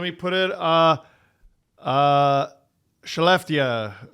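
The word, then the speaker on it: Skellefteå: Uh let me put it uh uh Chalftia, I think. Or is it Scalpia? You're I think Shalia. I think it's Shalia. Yeah, Shell is S ke L L, right?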